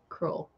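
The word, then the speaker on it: crewel: that cruel ah cruel it's cruel c r e w e l cruel not it's just a type of needle work Landon I probably don't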